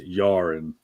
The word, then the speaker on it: Jahr: But that JAHR is Yaren, right? So Yar, New Yar is how you pronounce that.